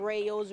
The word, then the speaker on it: Reaux: Serving as an elected official a short time, Thursday morning, Rayo announces her resignation. R-E-A-U-X. If you're from Louisiana and you know how to spell that, it's embarrassing. R-E-A-U-X. It's like go.